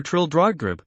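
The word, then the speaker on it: Trildrogdrib: It contained a warrant for conducting me and my retinue to troll dragdub or trill dragd for it is pronounced both ways as near as I can remember by a party of 10 horse.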